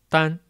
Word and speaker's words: dan: Its Pinyin is dan. It's in first tone. Let's separate this Pinyin. De, an. So de is an initial consonant. An is a vowel. When we spell this Pinyin, we say de an dan.